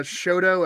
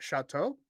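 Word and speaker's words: Chouteau: perfectly set there's a shoto avenue we call it shoto and he's like chateau that was really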